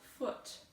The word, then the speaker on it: foot: is different for example foot two o's says it rhymes with the word put put foot uh the sound is uh put foot it rhymes with put but other times you